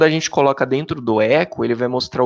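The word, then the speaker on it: echo: a p a gente tem um comando chamado Eco aí se escreve eixo mas se fala tá bom a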